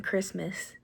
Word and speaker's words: Christmas: there's a silent tea or even Christmas there's a silent tea there too so just I think